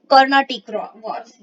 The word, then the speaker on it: Carnatic: Sorry my pronunciation was wrong, this is कर्नाटिक वॉर्स।